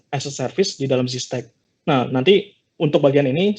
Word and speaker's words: Zstack: Dan tadi juga disampaikan mengenai kolaborasi dengan Zstack, ya, ngomongnya pronounce-nya Zstack atau ya. Zstack ya.